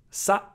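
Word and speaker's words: さ: Sa, how to pronounce sa? Sa is pronounced like sa in salsa.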